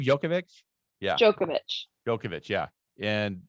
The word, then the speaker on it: Djokovic: the guy that's been around forever right yeah djokovic how do you say his name jokovic yeah djokovic djokovic yeah and that so the